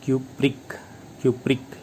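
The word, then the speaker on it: cupric: तो ज़्यादा वाला जो होगा उसका लास्ट में प्रोनाउंसिएशन ईक आएगा, ईक बोलकर देख सकते हैं। क्यूप्रिक लास्ट में ईक आ रहा है।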